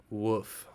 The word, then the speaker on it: WOOF: So moving on back to our list, the next is going to be WOOF, better pronounced as woof.